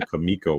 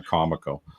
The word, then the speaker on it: Comico: Maybe like with with Comico was actually Kamiko was how they wanted to pronounce it even though everyone called it Comico, right?